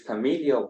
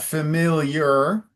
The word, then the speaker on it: familial: What is the first recorded instance of this familial problem? All right, very well pronounced. Now, just to be clear, it's not familiar. If there was an R at the end, it would be familiar.